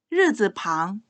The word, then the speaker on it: 日字旁: 날일자의 중국어 발음, 르, 르. 날일자가 부수로 쓰이면 르즈방.